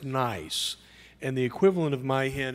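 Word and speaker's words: NYeC: from the New York ealth collaborative now that's pronounced nice and the equivalent of myen and New York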